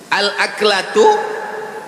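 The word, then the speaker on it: الأكلة: Al-aklatu bifathil hamzah, cara membacanya hamzahnya baris atas, a.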